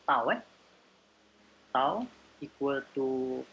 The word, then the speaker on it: tau: Shear stress is known as is pronounced as tau.